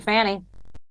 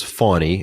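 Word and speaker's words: Fani: point so thank you Fanny first off her name is fawny and they intentionally mispronounce her name over and over again and for them to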